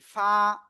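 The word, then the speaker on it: ف: এই অক্ষরটার নাম কি ফা একালিফ টান নিচে ঠোঁটের পেট উপরে দুই দাঁতের আগার সাথে লাগে হালকা বাতাস বের করবেন বের করে একালিফ টানে উচ্চারণ করতে হবে ফা ফা সবাই একসাথে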